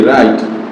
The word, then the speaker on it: right: হছে এখানে না এ রাইট আর আই এটি রাইট দেখ রাইট কিন্তু দেখ এখানে আমাদের আই আছে